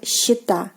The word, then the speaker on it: счета: So счет, but счета, счета, счет, счета.